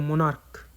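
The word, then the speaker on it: monarchs: इसको बोलते हैं मोनार्क। तो लास्ट में सी एस है। और सी एस का उच्चारण क्या है?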